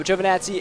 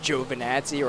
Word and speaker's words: Giovinazzi: So Giovinazzi in the Alfa Romeo, I believe that's how you pronounce it. I believe it's just Giovinazzi, right? Like J-O-E, Vinazzi.